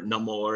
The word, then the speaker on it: Namor: including the introduction of Namor or no more as he's pronounced but yeah it's always